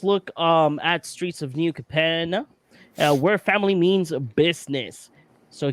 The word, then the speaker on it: Capenna: I think it's Capenna. I think it's Capenna. Gotta say it like an Italian. Capenna.